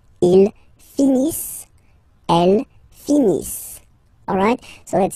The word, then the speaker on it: finissent: So remember, as usual, when we get the verbs, E, N, T, not pronounced. Ils finissent.